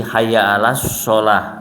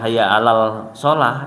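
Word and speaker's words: حي على الصلاة: Jadi hayya 'alas sholah langsung pada lafadz shotnya, ya. Jadi kalau ada yang muadzin baca hayya 'alal sholah itu salah, ya, karena dia membacanya seperti lam komariah, padahal itu adalah lam syamsiah.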